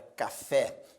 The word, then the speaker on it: café: Observe que a palavra café é uma palavra oxítona. Por que oxítona? Ela apresenta duas sílabas e a sílaba tônica é a última, portanto, palavra oxítona.